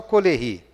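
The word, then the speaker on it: Caullery: Ele fala só Collery, né, que escreve-se dessa forma com a pronúncia francesa.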